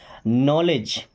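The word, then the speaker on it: knowledge: हमारा पहला वर्ड है नॉलेज। इस नॉलेज वर्ड में के और डब्ल्यू और ये डी साइलेंट होते हैं।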